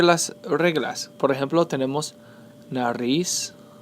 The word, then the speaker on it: nariz: Por ejemplo, tenemos nariz. Nariz, the stress is placed on the last syllable.